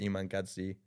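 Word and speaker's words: Iman Gadzhi: is all just inspirational stuff so people like Iman godzi that's how you say his name yeah wow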